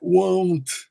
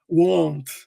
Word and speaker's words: won't: Tá vendo esse O aqui? Ó, ele tem esse som de O. Então fica won't. Para fazer esse som, você vai usar meio que aqui a parte de cima do lábio e a parte interna do nariz, entendeu? Won't. Quase meio que se você fosse falar como fanho, assim, né?